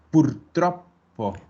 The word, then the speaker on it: purtroppo: Ojo a las dobles en la pronunciación. Abbiamo. Abbiamo. No tiene doble M, tiene doble B. Abbiamo. Otro es purtroppo.